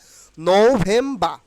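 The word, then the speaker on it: November: আপনাকে এই ভিডিওর মাধ্যমে শিখে নিতে হবে তাইলে নোভেমবা নো ভেমবা আর ডিসেম্বরের উচ্চারণ কিন্তু ডিসেম্ব ডিসেম্ব ডিসেম্ব এই যে আর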